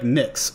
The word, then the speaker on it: Nyx: Uh, it's like Nyx.